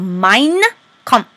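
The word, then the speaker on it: Mein Kampf: He writes this book called Mine Comp. Say it like a German mine comp.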